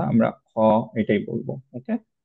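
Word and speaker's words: خ: বাট যেহেতু এটা heavy letter, obviously আমরা খা এরকম বলবো না, আমরা খ এটাই বলবো।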